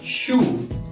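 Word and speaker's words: 叔: For uncle, we have shu, S-H and U, shu.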